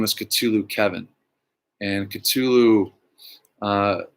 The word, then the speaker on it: Cthulhu: cthulhu the actual name so the catulou is a sea monster in the hp lovecraft mythos and uh it's spelled so you can't even say it with an english tongue c-h-t-u-l-u-h-u whatever but k-t-u-l-u